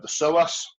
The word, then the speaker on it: psoas: Then you have on the upper inside of the thigh, you've got the psoas. If you are looking that up, it's got a silent P first.